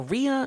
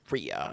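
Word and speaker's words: Riya: Uh, I think it's R I Y A. Ria, I guess. Ryan. Okay. I would say Rya.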